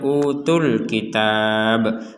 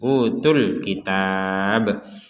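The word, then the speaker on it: أوتوا الكتاب: tidak panjang utul kitab Kenapa tidak panjang Karena kita menggabungkan tu di sini UU bagian TU nya itu kita gabungkan dengan alif lam di kata Alkitab maka tidak panjang sudah jadi panjangnya hilang yang awalnya utu kemudian menjadi utul langsung ke Alkitab seperti utul kitab Nah kita akan memanjangkan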